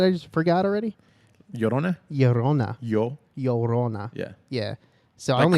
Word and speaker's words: Llorona: Llorona. Llorona. Yeah. Yeah. Yeah. So Like I only Corona, but with a yo.